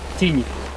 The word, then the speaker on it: Tignes: And team, by the way, it's pronounced Tignes.